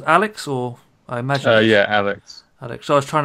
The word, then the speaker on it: Alyx: Is it pronounced Alyx, or I imagine? Yeah, Alyx.